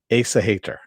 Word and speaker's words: Aesahaettr: of today's dark materials season 2 episode 7 ace a hater i had to learn how to pronounce that because they only say it once